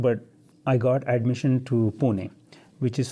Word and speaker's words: Pune: at 17 and spent next four years in Pune doing my engineering I I went to civil engineering is it how do you pronounce that punet Pune Pune 4 hours from your parents 4